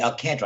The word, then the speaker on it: Alcantara: at the current price Alcantara Alcantara excuse me I'll canter i know that's that's the way it's pronounced i can't rule the